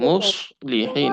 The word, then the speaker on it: مصلحين: তারপর মুসলিহিন, পরিবেশক। মুসলিহিন এখানে সদকে মোটা করে উচ্চারণ করতে আমার হবে আর মাত করতে হবে।